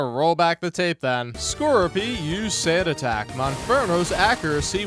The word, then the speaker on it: Skorupi: Where he got that from, I don't know, but the actual Pokemon name is Skorupi. Like Scorpion. It's spelled Skorupi.